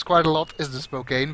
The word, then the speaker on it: Spokane: sister have been flight instructors in flight simulator pronounced Spokane that's where I got my uh pronunciation from